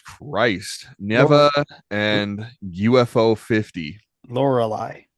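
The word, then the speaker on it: Lorelei: neeva and UFO 50 laureli is how you say that anal is really cool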